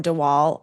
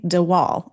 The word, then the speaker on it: de Waal: little bit about the research you found from de Waal about um, and I don't know I don't know if I'm pronouncing his name correctly. de Waal, I believe it is.